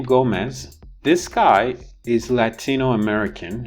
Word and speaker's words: Gomez: Dennis, hey, I'm Gomez. I'm with the DEA, Drug Enforcement. It's Selena Gomez. I am super. Here, the Z is pronounced Z.